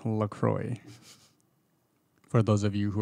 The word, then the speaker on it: LaCroix: it up yup go ahead and it is pronounced lacroix for those of you who are wondering maybe